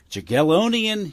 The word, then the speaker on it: Jagiellonian: And did I pronounce that university in in Poland correctly? Jagiellonian University. Jagiellonian.